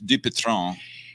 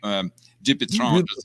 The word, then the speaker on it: Dupuytren: And for the correct and I'm impressed so much by your correct pronunciation, which Alan just asked me about, which is Dupuytren. Dupuytren.